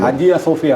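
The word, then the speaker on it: Hagia Sophia: ഗലാത്തിയും ഈ പറഞ്ഞ സ്ഥലങ്ങളിൽ ഹാജിയ സോഫിയ ആണ് ശരിയായ ഉച്ചാരണം അല്ലേ ഹാജിയ സോഫിയ എല്ലാവരും ഹാജിയ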